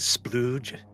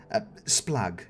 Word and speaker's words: Splug: You say his name is Splooge. Splug. Yes.